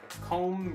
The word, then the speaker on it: comb: Comb break? Comb doesn't pronounce the B yet.